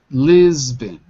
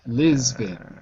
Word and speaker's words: Lisbon: The city of Lisbon walks to Mr. Long. The city of Lisbon was to Mr. Long. Very good. Now 2 words. Lisbon. Repeat. Lisbon. Lisbon. It looks like Bon, but it's pronounced bin.